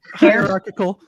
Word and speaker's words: hierarchical: Hierarchical.